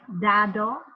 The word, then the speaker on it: dado: Regarding the D, in Vietnamese, D is pronounced like in a hard way, like D, like dado, right? But in Spanish, they pronounce it in a very soft way.